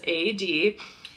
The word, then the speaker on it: Aeyde: interesting things about it other than how to pronounce it which is a d is the story so this is a really